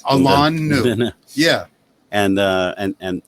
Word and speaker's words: Alain Nu: called State of Mind by Alan New. That's how you pronounce my name. Like standing on Alain, right? Alan New.